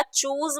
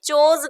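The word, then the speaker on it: chose: वो हटा के हमने चोज कर दिया। इसका प्रोनाउंसिएशन भी आपको देखना है, आपको इसको बहुत सारे बच्चे चूज ही पढ़ते हैं, तो चूज नहीं पढ़ना, चोज पढ़ना है, ओके।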